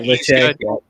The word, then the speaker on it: Lachey: I know Luke Lachey, the tight end, or Lad, I think, is that how you pronounce it? Yeah, Lachey. Yeah, Lachey.